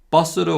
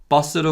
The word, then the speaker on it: 버스로: Listen to the following phrases and listen carefully to how the vowel or is pronounced as 우.